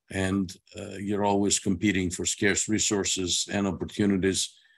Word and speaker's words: SCARCE: um the acronym uh pronounced scarce like the word English doesn't denote Rarity